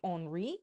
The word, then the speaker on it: Henri: Francis actually married twice, which we'll get into later, and Henry, his son, he would have been Henry II, and I believe it's actually pronounced Henri.